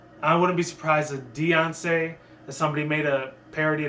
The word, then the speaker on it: Diancie: Diancie, it sounds like Princess Diana came from the Royal Guards of London, or like the British Prime Ministers back in the 80s and 90s.